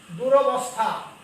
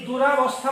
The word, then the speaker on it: দুরবস্থা: তারপরে আরেকটা দেখো মোস্ট ইম্পর্টেন্ট, দুরবস্থা। অনেকেই এই দুরাবস্থা বলে না, দুরাবস্থা নাই, দুরবস্থা, দয়সু র ব দন্ত সংখ্যা, দুরবস্থা, আমার দুরবস্থা, খারাপ অবস্থা।